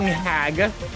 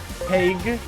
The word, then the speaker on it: Hague: You're not the fucking hag. Hague. I fucked up the pronunciation.